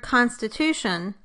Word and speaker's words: constitution: So in the word constitution, the tu syllable is the strongest and the con is the second strongest.